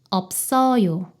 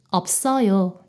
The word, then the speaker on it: 없어요: 이때 시옷이 쌍시옷 발음으로 변해요. 그래서 없어요가 돼요. 없어요. 없어요.